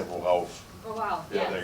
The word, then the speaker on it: worauf: I just pronounced it wrong. Yeah, you were trying to say worauf.